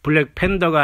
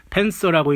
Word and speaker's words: Panther: 그래서 이 블랙팬서라는 영화는 블랙팬더가 아니라 팬서라고 읽는 흑표범이 맞습니다.